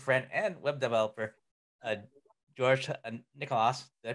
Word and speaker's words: Nicolaou: So this is my discussion with my good friend and web developer, George Nicolaou. Did I pronounce the last name properly? Nicolaou.